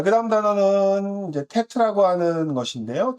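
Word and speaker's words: טית: 테트는 어 보기에는 지지금 지금 어려워 보이지만 쉽습니다. 저 따라해 보세요. 테트는요. 딱 긋고 야 이겁니다. 딱 긋고 이겁니다. 테트 테트 다시 테트는 테트 이렇게 쓰지요. 음가는 티귿 티귿을 씁니다.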